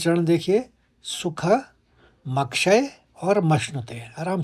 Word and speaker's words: मश्नुते: आखिरी चरण देखिए, सुख मक्षय और मश्नुते। आराम से आप उच्चारण करें, मक्षय। पहले आप क का आघात लेंगे मक, म के ऊपर, फिर मश्नुते, फिर आप श का आघात लेंगे मश्नुते, सुखमक्षय मश्नुते।